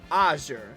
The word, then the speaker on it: azure: Like the emphasis is on the first syllable. So a aure azure.